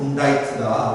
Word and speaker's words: indict: 세 번째 단어, 이거는 고등학교 때 여러분들 발음 기억 문제로 영어 시간에 많이 했죠. indict가 아니고 indict다.